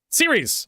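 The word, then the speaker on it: Ceres: I call it series. Um um series series I was right series. I'm not crazy.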